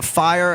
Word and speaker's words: FIRE: But he is a he's a free speech advocate, a fire as the acronym is pronounced.